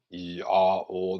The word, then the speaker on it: IAO: IAO, Yao, that's how you pronounce it.